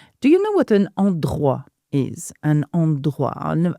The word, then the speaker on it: endroit: passage is titled 'Mon endroit préféré.' Do you know what an "endroit" is? Emphasize on the R sound: endroit. Endroit préféré. There's a lot of R. Now, "endroit" is a place.